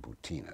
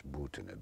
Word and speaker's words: Butina: Incidentally, as we talk, this young Russian woman, Marina Butina, sometimes pronounced here Butina, but it's Butina, B-U-T-I-N-A, has been sitting in an American prison